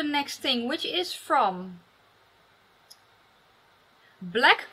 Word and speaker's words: Blaqe: Let's go to the next thing, which is from Blaqe Cosmetics, but it is spelled with a Q.